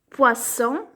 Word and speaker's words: poisson: Poisson, le. On entend S, donc on colorie.